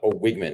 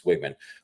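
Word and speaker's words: Weigman: to rag on Connor wigman because uh uh wigman is is how you pronounce it I found so I was it's it's wigman but wigman you know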